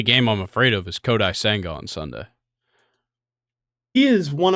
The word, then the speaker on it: Kodai Senga: How did you pronounce that last guy's name you just said? Kodai Senga? Kodai Senga.